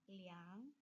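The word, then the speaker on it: 两: Kembali lagi kalau untuk uang angka 2 itu disebutnya liang. Lalu kita lihat yang ini 0,22 menjadi liang mau er. Kenapa disebutnya er tidak liang?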